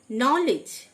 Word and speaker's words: knowledge: নলেজ, KNOWLEDGE, নলেজ, মানে জ্ঞান, প্রথম কে সাইলেন্ট।